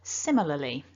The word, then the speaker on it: similarly: We can see that this is a 4-syllable word and we want the stress to be on the first syllable. Similarly. So make that sim nice and strong in comparison to the other syllables.